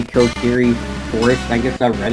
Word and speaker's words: Kokiri: is to hear all the different ways people pronounce things. Croissant! I used to say Kokiri Forest. I guess I read it really wrong, and I pronounced it Kokoriki for years.